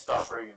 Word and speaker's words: Stoffregen: It's Stop Reagan, but yeah.